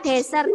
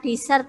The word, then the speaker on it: desert: namanya ada di desa nanti bacanya desert ya bukan dessert ya desert karya yang lain Jo temennya